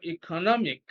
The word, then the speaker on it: economic: Then question number 40, economic or economic. And the same rule, because it ends in IC, is the second syllable before the end of the word, and that's what we have in C, economic.